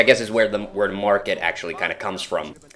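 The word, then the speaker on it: Märket: i'm not entirely sure a finnish person would look at this and he would say market but i think it's a swedish one swedish name and in in swedish that e letter will sometimes pronounce an a sound so maybe it's merket island uh or if it's if it's really swedish if it's like high swedish it's might be even their i'm not sure as in merchant so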